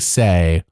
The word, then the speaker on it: Sai: think they were saying say so let's call it say everyone was saying say so we'll say say as well we'll say say say